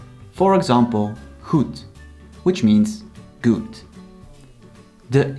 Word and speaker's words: goed: When the D is on the end of the word, it's often pronounced as a T. For example, goed, which means good.